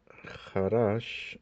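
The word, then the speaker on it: חָרַשׁ: Esta palabra jarash está en el estado constructo con respecto a la palabra que sigue y por esta razón está vocalizada en pataj en la última sílaba.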